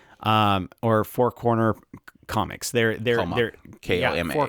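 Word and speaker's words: 4コマ: They're Koma. four coma. Yeah, that's what I said that. I think it's pronounced comma, isn't it?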